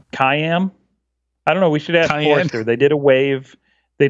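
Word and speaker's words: CIAM: yet another yet another four letter acronym I know does anyone know how to pronounce it no kayam they did a wave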